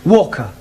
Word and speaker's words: Walker: more all that Mrs vka is keeping me busy Anna do this Anna do that she is a Slave drivers at Mrs Walker Walker what w is pronounced W your employer's name is Walker yeah vka do you